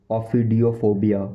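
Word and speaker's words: ophidiophobia: इसको English professional language में बोलेंगे ऑफी, ऑफिडियो, ऑफिडियो, ऑफिडियो, ऑफिडियो, ऑफिडियो, ऑफिडियोफोबिया, ऑफिडियोफोबिया, ऑफिडियोफोबिया, ऑफिडियोफोबिया spelling O पी एच आई डी आई ओ, ओ पी एच आई डी आई ओ।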